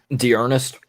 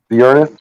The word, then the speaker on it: D'Ernest: How do you say his first name? D'Ernest. D'Ernest. I was getting confused with DeForest Buckner, but D'Ernest Yeah, Johnson.